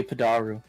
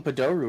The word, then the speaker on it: padoru: say the words free padaru how about you start saying padoru right since we in the season yeah can't even say it correctly fake fan fake fan